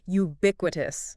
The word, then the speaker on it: ubiquitous: First word is ubiquitous. That's ubiqu. How do you pronounce that naturally? Right. It's jpec. Galler. Jubiquitous. Stress on that second syllable.